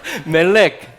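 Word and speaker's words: מלך: 자, 요 단어를 뭐라고 하냐면요, 멜렉이라고 읽습니다. 자, 이걸 써놓고 읽으라고 하니까 좀 그러네요. 자, 읽어보겠습니다. 멜렉.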